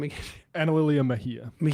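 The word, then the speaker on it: Mejia: That's Analia Mahia. Mahia is the one person who can pronounce it in this office.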